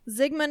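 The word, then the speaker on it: Zygmunt: up but probably this is the story of zigmund Adamski okay Zigman is the correct pronunciation atom ski no clue so zigmund was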